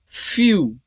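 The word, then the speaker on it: few: तो वो व आएगा, लेकिन जब वो यहाँ पर E के साथ आ रहा है तो E और W ये दोनों मिलाकर साउंड प्रोड्यूस करेंगे U। Okay, as इन फ्यू। तो यहाँ पर जो लेटर है फ्यू, F है, लेटर F और EW U। सो ये इसका प्रोनाउंसिएशन हो गया फ्यू।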